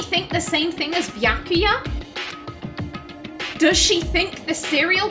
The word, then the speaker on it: Byakuya: I'm sorry, I want to pronounce it the right way! Byakuya! It's Byakuya. Oh, he's like, bitch, say my name right.